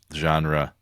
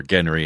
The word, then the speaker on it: genre: my love of this genre, or genre as it should be pronounced.